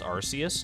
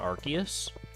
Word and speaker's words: Arceus: definitely didn't all I know is that it's pronounced Arceus not Arceus I don't care what anyone else says I